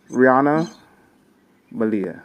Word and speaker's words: Riana Malia: With that, I want to bring to the stage Rihanna Malia.